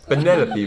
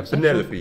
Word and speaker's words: Penelope: Ja, Penelope. Penelope? Officially, Penny, yeah. yes, but I never can be bothered with all 4 syllables of it.